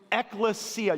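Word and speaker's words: ἐκκλησία: Eklesia. You kind of got to get in your throat to say it right.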